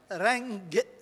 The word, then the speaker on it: رنك: عن شيء يسمى الرنوك، مفردها رنج، الكاف تلفظ مثل الجيم المصرية.